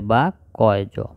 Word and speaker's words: বাক্য: তার মানে হলো ব আকারে বা, কয়জ, বাক্য।